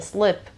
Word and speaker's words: slip: بچه دقت کنی، این لغت به این صورت تلفظ میشه. Slip. نمیگم sleep. Sleep یعنی خوابیدن. Slip یعنی سر خوردن.